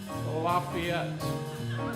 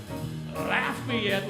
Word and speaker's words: Lafayette: there is no such town in Louisiana called Lafayette and there is no institution of higher education called the University of Louisiana Lafayette the correct pronunciation is Lafayette Louisiana Home of the University of Louisiana Lafayette